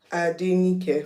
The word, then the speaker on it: Adenike: Adenike, 4 syllables. Surely they can learn it. And it's pretty simple.